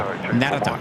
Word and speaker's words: Narita: I might have to- Narita is actually Narita. Narita. Like Narita.